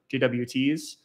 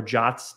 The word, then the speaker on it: JWT: But you can either do sessions or JWTs or JOTs, depending on how you want to pronounce that.